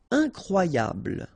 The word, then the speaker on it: incroyable: Incroyable. Okay, same thing here for the final E. Don't pronounce it.